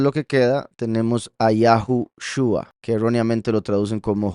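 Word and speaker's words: יהושע: caso nos confirma que la pronunciación es Yahushua y no Yahusha, como dicen algunos. Vean que la borro y no cambió nada el nombre, porque ambas formas de escribirlo resultan en la misma pronunciación, Yahushua.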